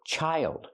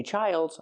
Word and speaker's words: child: And this word, child. Use the long I like high and like. Child. But if I have more than one, I don't say childs, I say children.